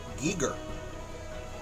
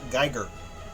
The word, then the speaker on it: Giger: Giger. Not Geiger, like the counter.